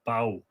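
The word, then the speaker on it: Badb: of what bob had b a d b is a very interesting one because apparently in modern irish you would pronounce it bow anyway take your pick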